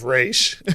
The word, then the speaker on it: Ra's al Ghul: way to correct him it's it's race people always say it wrong was right like okay